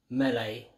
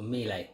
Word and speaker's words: Miele: free cat and dog mail a Hoover or me lay it should be pronounced and I'm telling you